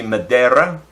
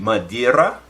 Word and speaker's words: Madeira: know if it was if it's Spanish it depends on whether you're pronouncing the e or the I if you're pronouncing the e it would be Madera and if you're pronouncing the ione muddy era so I you know at least that's the way I would interpret it in Spanish and I'm definitely no